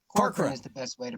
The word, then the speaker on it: Corcoran: Yeah, Corcoran. Corcoran is the best way to pronounce it.